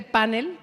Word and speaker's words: panel: Yo les tengo que confesar que estoy emocionadísima con este panel con acento en la A, porque así es como lo pronunciamos en México, aunque no lo escribamos así.